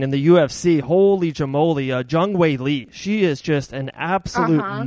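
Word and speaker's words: Zhang Weili: Jung Wei Lee.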